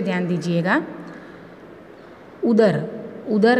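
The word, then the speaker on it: ઉંદર: तो यहाँ अनुस्वार नहीं लगाने से उदर का मतलब पेट होता है, और अगर ये उदर में एक अनुस्वार लग जाए ऊ के ऊपर तो उसका प्रोनाउंसिएशन कैसे होगा, उंदर।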